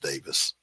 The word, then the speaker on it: Davies: Stuart Davies, Davis, spelled Davies, Davies, but pronounced Davis.